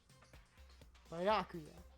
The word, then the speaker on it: Byakuya: Byakuya. That's how you pronounce it.